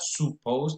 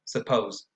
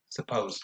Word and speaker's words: suppose: Not suppose, but suppose. Suppose. Very relaxed.